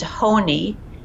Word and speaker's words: Honi: the story is about a fascinating character named Honi which is spelled h o ni and you can google